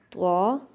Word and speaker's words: ط: تلفظ ادا کریں گے۔ تا، طا، طا تھوڑا موٹا ہے لیکن تا باریک ہے، لیکن ہم آواز ہیں،